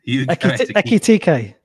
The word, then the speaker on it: Ekitike: You're going to have to pronounce that for me. I always get him wrong. To score any time. Ekitike.